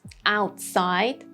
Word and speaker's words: outside: But Another case that we use held T is when it is at the end of a syllable and the next syllable starts with a consonant. Like these words, outside, outside. I didn't say the T sound.